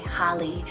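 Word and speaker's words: Hali: i have holly spell h a l i holly it's greek rooted meaning c about four more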